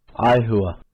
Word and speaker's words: AiHua: Ahua. Ahua. Yeah, but what does it mean? Oh, here's a how to pronounce thing. How do you say this fucking word? Ihua.